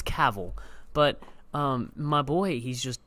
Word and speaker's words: Cavill: Gavin Cavill that's cool it's Cavill but my boy he's just he's done and